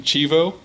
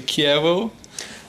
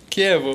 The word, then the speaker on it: Chievo: And I have to apologize to the Italian community because I kept calling my formation Chivo, where it's actually Chievo, I think, Yes, right?